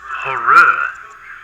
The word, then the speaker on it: Horrere: It's pronounced horror.